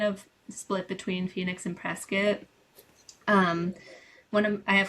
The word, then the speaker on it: Prescott: Uh it's funny you say so it's it's pronounced Prescuit, not Prescott. Yeah, Prescuit.